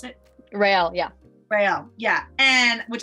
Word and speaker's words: Rael: Is that how you pronounce it? Rail, yeah.